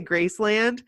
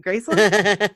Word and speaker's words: Graceland: Elvis Presley's Grace it's I say Graceland because that's how they pronounce it in Memphis and I I would always say graceand and they'd say graceand you mean Gracin so I say Gracin now because I've been trained to um and it's awesome